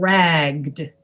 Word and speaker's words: ragged: You have to kind of make the G sound longer because you need to have the voice present to pronounce the D. Ragged, ragged. Ragged, ragged. And you make the vowel longer too. You make everything longer to get that D pronounced with your voice at the end.